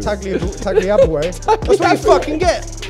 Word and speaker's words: Tagliabue: And you've just mispronounced it. It's Tagliabue. Tagliabue.